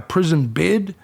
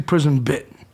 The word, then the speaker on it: prison bit: Bit is something that a lot of people mispronounce that word when they say, I got a prison bid. No, it's actually prison bit.